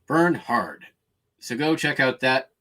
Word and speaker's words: Bernhard: the tommy bernard bernhard bernard but it's spelled burn b-e-r-n h-a-r-d burn hard so go check out